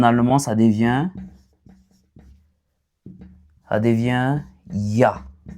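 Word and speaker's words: ja: ça devient ça devient ya. On va prononcer oui comme ya et non. C'est un peu ça. Donc j est prononcé comme Y en allemand.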